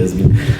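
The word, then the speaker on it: Hazbin: Has Been, ça s'écrit H-A-Z-B-I-N.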